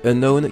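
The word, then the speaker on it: Unown: pour leurs noms anglais unknown qui la confection de unknown avec un n est un cas en moins et qui signifie inconnu d'ailleurs vous aurez remarqué que ça se prononce de la même manière les arbitres possède une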